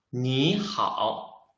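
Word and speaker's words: 你好: Because in Chinese, if there are two third tones, we should change the first third tone into the second tone. That's why I should read it 你好 not 你好 It's wrong.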